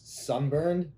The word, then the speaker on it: SVNBVRNED: So it's Sunburned, but the U's are V's just because it looks cooler.